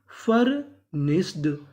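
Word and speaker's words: furnished: अगर आपको इंग्लिश में कहीं पर इडी लिखा मिले तो इडी को पढ़ते हैं ड तो मीनिंग क्या बनी? फर्निश्ड।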